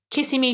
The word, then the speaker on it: Kissimmee: Kissimmee, Florida.